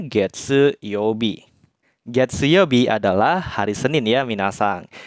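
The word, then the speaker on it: 月曜日: di sini kita baca getse sehingga kanji ini dibacanya getse Youbi getseyobi adalah hari Senin ya Minahasa jadi hari Senin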